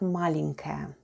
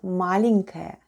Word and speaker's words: маленькая: The first sound is m, then we have a, l, e, n, then goes soft sign, and soft sign makes the preceding letter sound soft, so we have n, then goes k, a, and ya, and all together it's маленькая, маленькая, which is Russian for small.